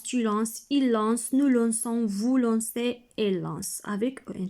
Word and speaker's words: lançons: ici mardi alors regardez j'ai ajouté ceci dit pour éviter de prononcer le son k d'accord alors je lance tu lances il lance nous lançons voulons c'est élance avec